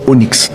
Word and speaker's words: Onyx: A minha mãe gostava da letra Y, ela botou Y no meu nome, então trocou a fonética, é Onix, porque a pedrinha preta é Onix.